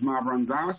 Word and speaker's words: Mavranzas: So if you want an easier way to pronounce it, just say my friend's ass three times real fast, and it'll come out to Mavranzas.